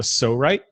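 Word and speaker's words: Psorite: It's called a Sorite. It's spelled P-S-O-R-I-T-E.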